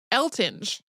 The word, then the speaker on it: Eltinge: talking about him where people say it El tinge and apparently he picked the stage name on purpose because of the potential for mispronouncing it thinking that it would quote serve to fix it more firmly with the public uh so just we're just gonna go with elting I mean I understand